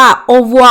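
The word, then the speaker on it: au revoir: แปล ว่า ลา ก่อน คือ เวลา ที่ คน ฝรั่งเศส ออก เสียง คำ นี้ กัน ใน ชีวิต จริง อ่ะ คำ ว่า เ อ่ะ มัน ออก เสียง เบา มาก จน เหมือน แบบ เหมือน ได้ ยิน เขา พูด กัน แค่ ว่า โอวัว โอวัว โอวัว เอา ซึ่ง เรื่อง นี้ นะ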